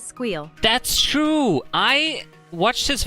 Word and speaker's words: SQL: L, or sequel. Okay. Interesting. If you wouldn't have said anything now, I would have called it squeal from now on.